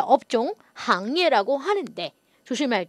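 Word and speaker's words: 行业: 자, 업종 行业 라고 하는데 조심할 게 요 글자의 발음이 돼요? 안 돼요? 싱부싱 할 때 싱이 아니고 항이라는 거죠.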